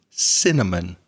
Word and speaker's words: cinnamon: Yeah, one little thing, the word cinnamon, one of my favourite spices, cinnamon. That's the pronunciation in English.